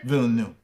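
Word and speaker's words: Villeneuve: two how do you say his last name vill new okay um my question here is there's been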